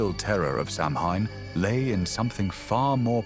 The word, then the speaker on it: Samhain: This is Samhine, pronounced so in the most sacred and terrifying night of the Celtic year.